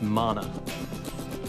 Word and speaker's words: mana: And it's pronounced mana. Yeah, you wouldn't believe how many people get that wrong.